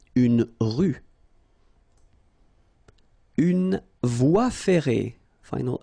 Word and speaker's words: rue: à tous Leon C dans la ville une rue not pronounced une rue une voie ferrée final e not pronounce une